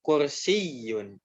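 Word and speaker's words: كرسيّ: Seperti ini, kursiyun, kursiyun, gitu ya. Nah, jadi ditekankan dia bertasdid. Kenapa? Karena huruf bertasdid itu pada dasarnya dia berasal dari 2 huruf yang sama, ya.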